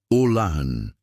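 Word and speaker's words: עוֹלָה: Para entendermos a natureza deste sacrifício, podemos olhar para a palavra hebraica, para holocausto. Olá, se pronuncia olan.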